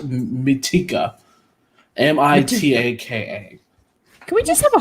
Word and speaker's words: Mitaka: His name is Lieutenant Mitika. Mitaka.